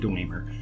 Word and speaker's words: Dwemer: So I pronounce it Dwemer, but W-E-M-E-R.